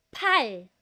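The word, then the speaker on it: 팔: Make sure na tama ang pronunciation po natin. Kasi po pal. Hindi yan pal. Pal may hangin. Ang consonant po ng pal aspirated na letter P yan. So pag aspirated po kailangan may hangin.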